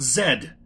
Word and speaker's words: Zed: is a couch and it's pronounced Zed not Z Zed Canon is the second